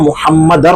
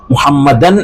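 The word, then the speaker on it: محمد: എന്ന് അതുപോലെതന്നെ അശഹദു അന്ന മുഹമ്മദ റസൂലുള്ളാ മുഹമ്മദൻ എന്നല്ല മുഹമ്മദ എന്നല്ലഅവിടെ അവിടെ അങ്ങനെ ഒരു നൂനോ തൻവീനോ ഒന്നും ഇല്ലാത്ത രൂപത്തിലാണ് നമ്മൾ ഉച്ചരിക്കേണ്ടത് അശഹദു അന്ന മുഹമ്മദ് റസൂലുള്ളാ എന്ന് ഇതൊക്കെ നമ്മൾ ശ്രദ്ധിച്ചില്ല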